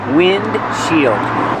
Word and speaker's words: windshield: Windshield. But you don't really hear the D because it's a stop D. Windshield. You make the position of the D but don't release D.